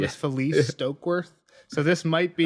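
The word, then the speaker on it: Falyse: Jeff always calls her Phallus. Yeah. Felice.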